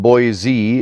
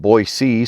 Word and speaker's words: Boise: the way as you might imagine boys and Boise is more lingually compat than boys of Boise